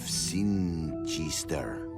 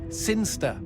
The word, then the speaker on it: Sinister: But Elliot Thomas was still stuck down on Earth in the boring town of Sinister. Sinister. Sinster. What? It's pronounced Sinster.